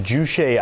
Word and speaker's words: Juche: Now, North Korea having this sort of, I believe it's pronounced Juche idea, this idea of independence from the outside world.